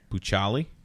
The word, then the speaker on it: Bucciali: I know two C's make a Bucciali. Bucciali.